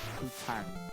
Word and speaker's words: poutine: Someone told me I had to eat poutine. Is that how you say it? Yeah? It's poutine.